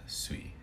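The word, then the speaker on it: 水: And because it's combined with other kanji, you're going to use the on reading, which would be the Chinese reading. That reading is sui. Sui, S-U-I.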